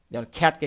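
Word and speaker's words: cat: যেখানে খাই বলতে হবে খ্যাটকে খ্যাট বলতে আপনি ক্যাট বলতেছেন তাহলে ভুল হয়ে গেল না ওই যে খ্যাটকে ক্যাট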